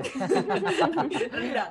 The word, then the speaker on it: rendang: only Bali, or the food is not only rendang. Rendang. That's right. It's pronounced Yeah.